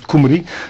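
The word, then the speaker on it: Cymru: Alors, le parti indépendantiste galois en passant s'appelle le play Kumri, ça s'écrit cyc Mru, mais ça se prononce Kumri.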